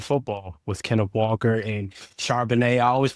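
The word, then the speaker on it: Charbonnet: Y'all are a team that love to run the football with Kenneth Walker and Charbanet. I always pronounce his name wrong.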